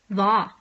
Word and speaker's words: hva: But it will be silent if immediately followed by either je or the. hjem, hvor, hva.